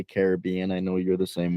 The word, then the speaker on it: Caribbean: the Pirates of the Caribbean yeah it's technically pronounced Caribbean but growing up I always say Caribbean I know you're the same way yeah so